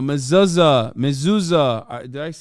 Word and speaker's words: mezuzah: A mezuzah.